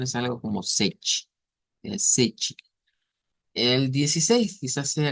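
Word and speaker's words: sete: Y hemos dicho que la pronunciación es algo como sech, donde la T suena como una ch, como una CH.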